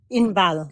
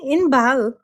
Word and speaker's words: Inbal: Inbal. It's a Israeli name, okay? Yeah, I couldn't pronounce it. I can pronounce. No, you can. Inbal. It's like how it is.